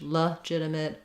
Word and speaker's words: legitimate: they can be somewhere in the if range legitimate legitimate doesn't matter too much the jit syllable is stressed and here's an example of